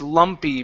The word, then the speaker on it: lumpy: This word here is pronounced lumpy. Make sure that E sound at the end comes out.